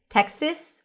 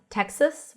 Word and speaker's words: Texas: Texas, or some people might say Texas, Texas with a lax E. I usually pronounce it as Texas with a schwa.